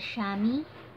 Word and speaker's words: Shami: with Shami name that is kind of spelled like shame. But the kid's name, she's a girl, so the kid's name is Shami.